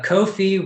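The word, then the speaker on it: Ko-fi: has said that uh kofi rhymes with no fee so thank you erica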